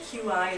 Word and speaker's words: qi: That QI is pronounced Qi, which in traditional Chinese medicine is the life force energy that's supposed to be flowing through our body.